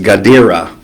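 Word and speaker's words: Guidara: unreasonable Hospitality by will his last name is pronounced gadir and um that is the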